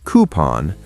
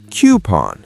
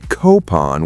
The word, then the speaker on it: coupon: This one has two correct pronunciations. American, coupon, British, coupon. Both are fine. So I can say either? Yes, but don't say coupon with a hard C. That's wrong.